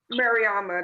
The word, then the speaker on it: Mariama: Okay, so how Mariama, that's how I say my name, but people just call Okay.